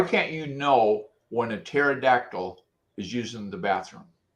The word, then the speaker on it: pterodactyl: Why can't you why can't you know when a pterodactyl is using the bathroom? Because the P is silent.